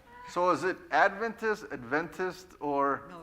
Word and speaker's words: Adventist: Seventh day Adventist with the emphasis on the first syllable rather than the second. So is it Adventist, Adventist or No, the first Adventist, right?